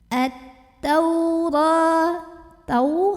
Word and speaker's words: التوراة: Maka ini alif lam tidak perlu dibaca, langsung masuk ke ta. At-taura. Tau huruf lin karena ada waw sukun sebelumnya fathah, maka dibacanya cukup dilembutkan.